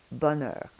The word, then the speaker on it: bonheur: On the inside of the mouth, the tongue is going to be moving between two sounds, but you're basically going to be the same on the outside, bonheur.